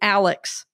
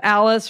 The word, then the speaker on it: Alice: my name wrong and she always calls me Alex instead of Alice or Alice and